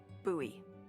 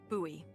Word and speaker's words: Bowie: It's actually pronounced Bowie. What? No, it's like the last name, like David Bowie. Different last name. Bowie.